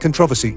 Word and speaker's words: controversy: On the other hand, we have words like controversy, where the stress may come on either the first or the second syllable.